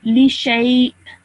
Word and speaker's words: لشيء: Hamza is pronounced like if it is an alif. So li shay.